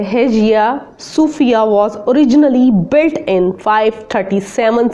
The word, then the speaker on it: Hagia Sophia: हम रीड करने लगे हैं है जिया इसका प्रोनाउंस है है जिया सूफिया वास originally built in 537 सीई बाय द